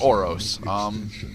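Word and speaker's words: Ouros: That's what his name is a reference to, but no, his name is Oros.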